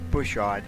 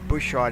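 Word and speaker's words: Butchart: awed by the way Bouchard is incorrect because the name that bushra would be corrected to his French but they were English so you put the accent on the first syllable instead of the second so it which caught with John's that's the way it's supposed to say it well anyway this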